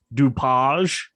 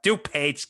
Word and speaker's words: DuPage: yeah for kane and i have no clue if i'm pronouncing this correctly doupage oh look at you it's actually uh dupage county oh dupage huh